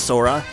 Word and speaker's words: Sora: guys you're from that video game yes it's pronounced sora you uncultured swine sniper joe you are